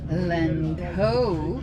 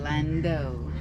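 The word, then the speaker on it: Landhoo: Land Ho, but they No. pronounce it Lando.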